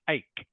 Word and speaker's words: ache: for me please just ache a a a good yeah that that's how it's pronounced a yes even though it is spelled CH H you you pronounce it like it is a k all right yes okay